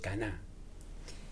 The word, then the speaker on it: קנא: Cana. Con acento en la a. El caná.